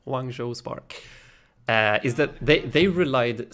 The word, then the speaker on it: Hangzhou: wrongs' ooh spark I'm not even sure I'm pronouncing that right one Joe one Joe I think that's the way you should pronounce it wrong Joe spark is that they